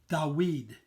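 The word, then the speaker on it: דוד: we D W D which in Hebrew is pronounced da weed the weed which is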